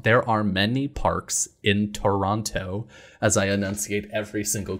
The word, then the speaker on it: Toronto: has told me that if you pronounce the second t in toronto then it marks you as not being from here so i've been trying to train myself into saying toronto but i i still